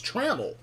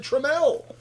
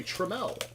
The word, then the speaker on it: Trammell: I thought it was Trammell. It's not. When I was watching the Angels play the Padres announcer said Trammell. So now I get to look smart and say Trammell. And saying it wrong all this time.